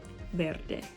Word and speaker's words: verde: bunch of ours so remember to roll your r's as much as best as you can when you say it Verde okay so this sentence